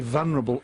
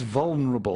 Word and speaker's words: vulnerable: many people mispronounce it's they say vulnerable it's vulnerable there's an L in front of the n and I I hear